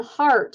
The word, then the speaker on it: Hart: My name is Hart, and it's not heart like the muscle. It's H-A-R-T, as in my last name.